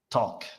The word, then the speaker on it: talk: And some students make the mistake of the pronunciation of take and talk, but they are totally different. Okay, so take, talk, take, mhm.